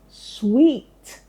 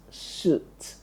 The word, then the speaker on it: suite: Telling you that that word should be pronounced as sweet. Sweet and not suit. Is that clear? Sweet. That's the correct pronunciation of that word.